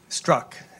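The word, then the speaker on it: Strzok: and the optics of the text by Peter struck and I'm not sure I pronounce that name correctly struck struck thank you mmm and second depending who you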